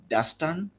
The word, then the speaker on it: Dustan: So my first my names are Dastan or right so kind of a brief